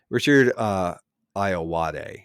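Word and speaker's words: Richard Ayoade: Richard Iowade is how you say his name, Oh, is yeah, a yeah, yeah.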